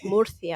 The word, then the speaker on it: Murcia: You definitely didn't nail that. Just FYI. That's how they say it out there. Murcia.